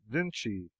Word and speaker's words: Vinci: and Leonardo D viny they spell it Vincy and pronounce it Vinci foreigners always spell better